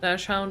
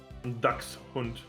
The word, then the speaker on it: Dachshund: Can you pronounce Dachshund again, how it is supposed to be? Dachshund.